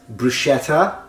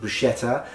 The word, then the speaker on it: bruschetta: as I was saying sometimes it's mispronounced bruschetta and other times it's mispronounced bruschetta obviously the latter usually it's a mispronunciation that happens either with Americans or with Australians the reason why is because usually Americans and Australians have a specific linguistic phenomenon when it comes to the pronunciation of tease in English that is called technically flapping and flapping is the